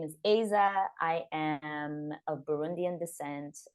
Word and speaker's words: Aiza: us all better yes so it's pronounced Aza I mean no it's all good like um uh Isa also works like I guess more francophone people will call me that but I'm trying to standardize the thing if I can